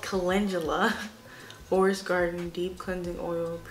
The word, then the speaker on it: Calendula: This is the Candelula.